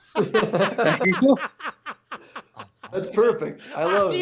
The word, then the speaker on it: Acheeto: Acheeto, Acheeto. That's perfect. I love it. It's perfect pronunciation.